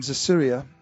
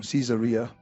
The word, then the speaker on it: Caesarea: There was a certain man in Caesarea, or Caesarea, as Fiona taught us, the right way to say it, called Cornelius, a centurion of what was called the Italian regiment.